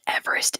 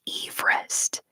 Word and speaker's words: Everest: I still can't get over last year finding out that the guy that Mount Everest is named after, his name was pronounced Eve Rest.